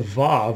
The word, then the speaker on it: Vav: And this is under the heading of Vav, which is more or less how you pronounce that. It is basically a W and sometimes honestly has no pronunciation whatsoever in the Hebrew, in Hebrew words.